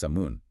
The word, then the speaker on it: salmon: Phonetically, you might want to say salmon. Seems logical. But in British English, the L is silent. It's completely absorbed by the vowel. So, it's pronounced samun.